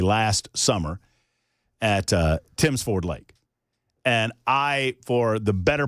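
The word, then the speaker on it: Tims Ford: It's Tim's Ford.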